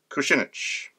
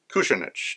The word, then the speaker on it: Kucinich: The Ron Paul Institute published on June 14 an article by Dennis John Kucinich, or Kucinich, depending on how you want to pronounce it.